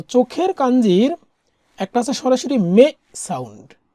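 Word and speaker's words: 目: চোখের কাঞ্জি তো চোখের কাঞ্জির একটা আছে সরাসরি মে সাউন্ড মে মানে হচ্ছে সরাসরি আই মানে একটা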